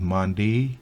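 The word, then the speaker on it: Monday: días de la semana el Day al final aun cuando en algunas partes de pronuncia Day en muchas otras se pronuncia día entonces Mandy tuesday Así que tenga su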